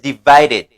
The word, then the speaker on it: divided: So, united, et le contraire de united, c'est divided. Faut nous bien maîtriser ça. United, divided. United, divided. United, divided. Ça veut dire, le ED peut avoir la prononciation id avec tid, did.